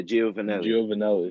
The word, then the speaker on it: Giovanelli: Yeah, Giovanelli. That's how you pronounce it.